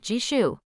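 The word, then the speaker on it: Gijoe: spares how about gaiju jishu what the hell kind of name is jishu she grinned wickedly it's spelled g-i-j-o-e it took Noah a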